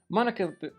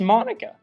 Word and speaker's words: Monika: they fly at him Monica now and obviously it is pronounced Monica the last two episodes I've been butchering her name pronouncing it mo nica also NAT Sookie is